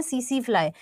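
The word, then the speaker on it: tsetse: पास में सीसी फ्लाई अब इसका टी साइलेंट होता है तो हम इसे बोलते हैं सीसी फ्लाई और सीसी फ्लाई भी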